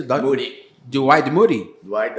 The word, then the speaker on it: Moody: Finney, então, 1875, né, Moody, como é que pronuncia? Moody.